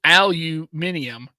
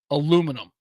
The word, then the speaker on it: aluminium: the word minim but we say minimum to aluminium aluminum yeah I don't think that yeah I don't